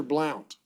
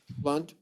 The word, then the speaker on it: Blunt: what's your name burn blunt yes sir you pronounce it or Blount blunt okay uh your chart well you got a failure to appear sir that's in division 20.